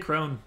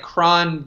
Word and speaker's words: Cron: all right CJ crone I always said was prom you know was just like cron did the database thing I know it is pronounced wrong I don't know you know it's cron because there's not at the end of it I know how to read